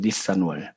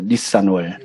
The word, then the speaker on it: 니산: 니산월. 한번 따라해 보겠습니다. 니산월. 어찌 니산 그런 게 아니고 니산.